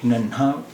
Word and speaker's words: नन्हा: अब अगर हम इसे नन्हा इसका उच्चारण कर रहे हैं तो ये दो चश्मी के साथ सही है।